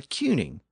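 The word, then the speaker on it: cyning: in Old English and the standard French rules of pronunciation would suggest that if you put a c at the beginning of that word c y n iing g it should be pronounced as an S but it wasn't I mean England was ruled by a cuning not a tuning or tuning and it's at this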